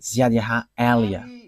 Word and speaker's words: Ziad Elia: So I pronounce it as my father pronounced it, Ziad Elia.